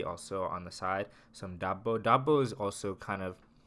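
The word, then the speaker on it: ዳቦ: some Ethiopian bread and bread in Amharic is pronounced double double so it's common for not at a restaurant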